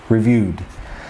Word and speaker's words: Review 3D: It's called Review 3D, pronounced reviewed.